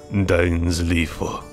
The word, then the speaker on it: Dainsleif: Dainsleif. That's how you correctly pronounce it. Dainsleif. Not Dainsleif.